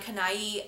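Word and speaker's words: Canaille: permanent i'm not sure this is number 89 kanai and it's spelled c-a-n-a-i-l-l-e and it is the most beautiful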